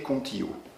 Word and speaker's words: Kontio: passé avec un des dirigeants de la société contillo ça s'écrit k o n t io ça veut